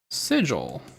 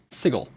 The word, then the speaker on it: sigil: And someone would would reasonably, if you had never heard this word pronounced, read it as sigle, which happens, right? And that was a big one for a lot of people, sigil versus sigle.